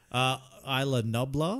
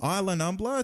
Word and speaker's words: Isla Nublar: I butchered that, didn't I? How is that said? Isla Nublar? Isla Nublar to rescue the remaining dinosaurs from an extinction-level